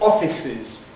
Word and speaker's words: offices: If we take the pair of words offices and officers, for me they're different because the plural of office has e offices. The plural of officer of course has officers.